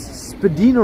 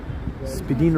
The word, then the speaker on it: Spadina: Hey, look, it's Spadina Road. And I am pronouncing that correctly. Spadina Road, and across the way, Spadina Avenue.